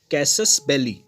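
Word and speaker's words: casus belli: इसको प्रोनाउंस करेंगे कैसस बेली।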